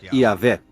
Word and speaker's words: Yahvé: Segundo um relato, Abraão conhecia Deus por seu nome pessoal, que costuma se pronunciar Yahvé. O autor dos trechos com o nome Yahvé, que em alemão escreve-se com J, foi chamado de J.